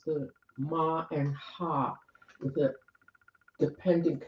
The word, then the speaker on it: mah: So it's not maha, it's ma.